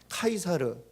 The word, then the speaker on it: 카이사르: 이거는 이제 어 이제 우리 말로 이제 번역될 때에 발음을 가이사 라고 했는데 본토 발음은 본토 발음 뭐야 카이사르 라고 하죠 영어로는 의 c 저라고